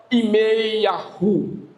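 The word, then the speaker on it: ירמיהו: E Jeremias no hebraico se pronuncia Imei-Yahu.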